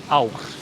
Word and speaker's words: ár: or ár. Ár. And then you have this scrolling R. Yeah, I Uh, can't do that. The scrolling R is like, it's not only hard for foreigners, it's even often hard for Icelanders.